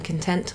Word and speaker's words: content: A chap would say, je suis content. Okay, so you don't pronounce the T at the end if you're a gentleman because there isn't an extra E to make it a T, a hard sound.